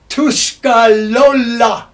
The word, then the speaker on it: Tuscarora: blended together and uh tuskarawa actually i've heard it pronounced tu scalolla r in many languages is l but uh the uh